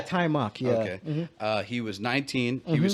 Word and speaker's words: Taimak: so they hired uh i've heard his name be pronounced as tai mok yeah tai mak he was 19.